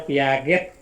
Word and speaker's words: Piaget: Ya, misalnya ada Piaget. Tulisannya Piaget, tahu ya, tapi dibacanya Piaget.